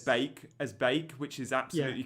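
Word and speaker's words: van de Beek: the FPL show, and every time I said van der Beek, he'd WhatsApp me going, "Stop saying van der Beek." So yeah, it's Bake.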